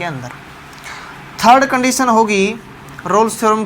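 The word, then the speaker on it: Rolle: अगर ये तीनों एग्जिस्ट कंडीशन फॉलो करेगी तो हम लिखेंगे ऑल द 3 condition of रोल्स theorem. कई बार इसको रोलिस भी बोल देते हैं प्रोनाउंसिएशन में।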